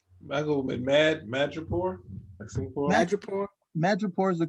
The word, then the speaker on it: Madripoor: Madripoor is the correct pronunciation.